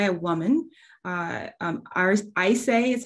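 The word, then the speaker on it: Ayşe: and it's by a woman uh um ours i say is how you pronounce her name a y s e bursal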